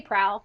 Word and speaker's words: PRAL: it's an abbreviation. So I say prowl, but There we go.